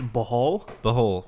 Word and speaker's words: Bohol: It's Bohol, Philippines.